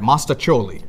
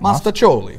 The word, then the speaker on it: mostaccioli: little while ago and I hope I get it right mostacholi that's right mostacholi That's Italian right it's